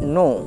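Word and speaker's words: know: এন আসে আবার বলছি ইংরেজিতে যদি কে এর পরে এন আসে তাহলে এই কেটি কিন্তু সাইলেন্ট থাকে আমি দুটো বিষয় বলেছি যদিও যে ইংরেজি ওয়ার্ডের শেষে যদি ই থাকে সেটা সাইলেন্ট থাকে।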